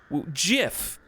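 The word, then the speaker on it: GIF: The venerable scholar who invented the word said it was pronounced the way I'm saying it, Jiff.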